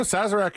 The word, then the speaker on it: Sazerac: Sazerac? Is that right? No, Sazerac, you nailed it.